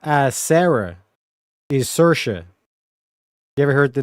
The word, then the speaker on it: Saoirse: If we go meaning, Saoirse, pronounced Saoirse or Saoirse, is an Irish female name given directly translating to freedom or liberty in the Irish language.